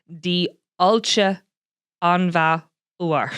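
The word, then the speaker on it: Diolch yn fawr: Pronunciation of thank you very much in Welsh is Di Ulcha Anva Uar. Seriously, I can't get it. Diolch an bhúr. It sounds a bit Irish. Diolch Anva Uar.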